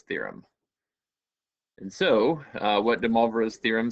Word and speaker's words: de Moivre: who've taken French class we know how to pronounce that as moi so rather than Moy and it's pronounced blah so once again I would I would call this de maras theorem and so what